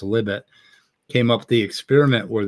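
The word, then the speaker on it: Libet: remember libbit you know uh Li IB T and it is pronounced libbit came up the experiment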